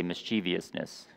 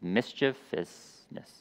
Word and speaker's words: mischievousness: or mischievous misch mischievousness some people say mischievousness that's not how you pronounce it it's mischievousness correction there it can